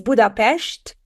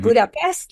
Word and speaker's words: Budapest: visit to Hungary and you would know that it's budapes not Budapest like how to pronounce the capital of the country correctly so it is so